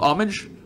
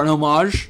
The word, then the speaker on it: homage: It's called homage, or an homage, depending on how you pronounce it.